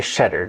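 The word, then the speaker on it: Tschetter: my guest is Cheddar. Did I pronounce that correctly? Yeah, cheddar. The T and the S is silent, so cheddar. Cheddar, yeah. Like the cheese. Like the cheese, just like it.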